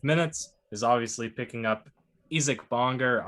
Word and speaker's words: Isaac Bonga: is obviously picking up isik bonger isaac bonga supposedly the pronunciation is easy bonga he was a small